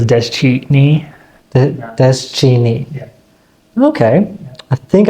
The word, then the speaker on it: Deschine: Yep, that's Deschine, and that's Navajo origin. Pronounced Deschine is a silent, there's a T in there, but it's not listed. Interesting. Yeah, so it's Deschine.